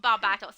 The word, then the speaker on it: Barbatos: David said Barbatos, as did my mom, Barbatos. You guys are the best. I'm so glad that you all know how to pronounce it correctly.